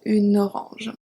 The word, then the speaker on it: une orange: And then if we look at the feminine singular, we have une fille, and then une orange. So here you can also link the two words, une orange.